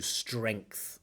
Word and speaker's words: strength: Don't quite get that full strength, but that's quite difficult, right? To combine that sound, the nasal string, with that sound. Strength. Not an easy word to pronounce.